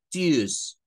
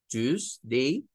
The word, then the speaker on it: Tuesday: Parecería más inglés americano si usted lo dice con el sonido de la Y. Tuesday, Tuesday, Tuesday. Pero nuevamente estaríamos haciendo énfasis en que hay dos sílabas.